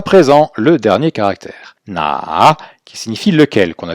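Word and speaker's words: 那: qu'on va juste prendre le caractère qui se prononce na, qu'on verra aussi à la séquence 7 du niveau 1. Ce caractère-là, donc sans la bouche, se prononce na, et on a rajouté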